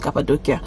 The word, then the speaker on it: Cappadocia: Well, instead of doing Istanbul that I've gone to before, I'm doing Cappadocia. Well, from what I learned, it's pronounced Cappadocia.